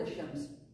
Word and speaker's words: ash-Shams: Say the word ash-Shams. Did you pronounce the al? No.